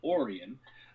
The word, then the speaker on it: Orion: a microcosm of it his brother orion which the family pronounced orion um campaigned for lincoln